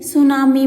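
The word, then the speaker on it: tsunami: सुनामी बोलते हैं इसको। इसमें टी साइलेंट होता है।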